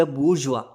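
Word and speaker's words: bourgeoisie: द बुरजवा। ये जो word लिखा है ना बी ओ यू आर जी ई ओ आई एस आई ई इस वर्ड को प्रोनाउंस किया जाता है बुरजवा।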